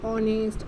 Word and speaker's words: honest: ऑनेस्ट, आवर and honour. Okay, because when spoken these words begin with the vowel sound O, as the letter H is silent in them.